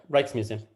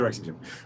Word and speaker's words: Rijksmuseum: It's in the, how do you pronounce the Rijksmuseum? Hello. Hello. Yeah, that's right. Rijksmuseum. It's the Rijksmuseum. Right.